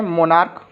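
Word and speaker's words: monarch: ठीक है, इसमें दूसरा सेंटेंस अगर लेते हैं, मोनार्क, एक सेंटेंस मिलता है मोनार्क। ठीक है, तो इसमें भी इसका उच्चारण क्या होता है, क आ रहा है, तो उसको भी मोनार्क्स।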